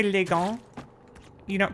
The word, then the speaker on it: gant: Cuz when you say when you say le gant you don't pronounce the hear the S at the end, right, Miss Dan? This is le gant. It's a nasal vowel.